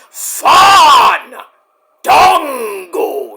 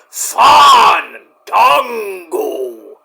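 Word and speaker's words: Fandango: It's Fun Dongo. You gotta roll the A's, Fun Dongo.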